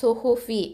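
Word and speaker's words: صحف: சுஹுஃபி அந்த 2 தொம்மாவை கரெக்டாக நம்ம உச்சரிக்கிறது.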